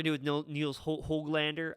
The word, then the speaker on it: Höglander: I'm not sure what we're going to do with Niels Höglander. I'm trying to say it properly like they do on Hockey Night in Canada. Höglander.